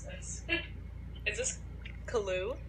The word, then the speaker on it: Caillou: Also, how do you pronounce this? Is this Caillou? Caillou. Caillou.